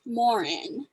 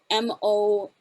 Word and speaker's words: Moran: name it's actually pronounced morin so there's emphasis on the second syllable um and morin probably means big or great uh the french variation it's actually a variant of um the name spelled m-o-r-a-n-t but because this is